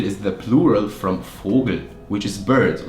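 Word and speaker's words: Vogel: and fergun like fergal is the plural from fogel which is bird like bird fogle and fergal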